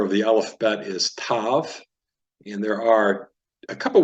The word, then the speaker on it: Tav: in the Sephardic and so we're going to call this Tav instead of Sav and it'll be tab it'll be pronounced t with or without the degash without the dot all right except pretty